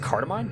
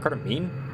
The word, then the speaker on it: cardamom: It's pronounced cardamom, not cardamomine.